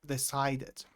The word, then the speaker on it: decided: Uh I told you before that when a word ends when a verb ends with a d or t and then there is ed d or t and then there is ed d the pronunciation of that ed is it and uh we made